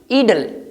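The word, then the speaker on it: idle: फालतू मत बैठो, don't sit इडल, don't sit इडल, इट is pronounced ईडल।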